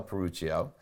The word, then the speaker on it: Peruccio: Peruccio, yeah. Sometimes in Italian you say, the hard C or whatever. So it's Peruccio.